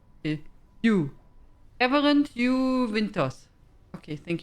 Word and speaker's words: Hugh: How do you say his name? It's not Huck. Hugh? Hugh? Okay, Hugh.